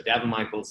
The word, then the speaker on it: Daven Michaels: Michaels there you go I do spell it funny da be en mi CH AE LS like Davenport so Devon Michael's even on Instagram yeah